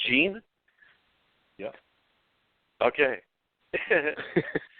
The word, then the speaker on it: Jean: in and is it gee how do you pronounce justice of course French it's Jean yeah okay yeah how are you guys today